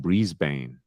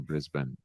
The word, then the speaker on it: Brisbane: it's probably a like a lot of Americans saying breezebane rather than Brisbane but hey I don't